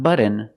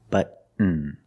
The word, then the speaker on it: button: candy like cotton candy Buton button not button it's button stop tea and fall